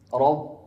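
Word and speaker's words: رب: Makhraj ba dari kedua bibir ya. Keluarnya ma ahad yaqra rab. Rabb. Jangan dimasukkan kedua bibirnya seperti itu. Jadinya huruf P.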